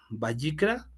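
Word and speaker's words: ויקרא: Se pronuncia Vayikra, Vayikra, según lo que investigué. Entonces, nosotros lo pronunciamos en español como Levítico, pero en hebreo sería Vayikra.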